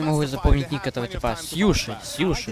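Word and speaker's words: Siuhy: Сьюши, все. А то я постоянно читаю как Сюхи, все.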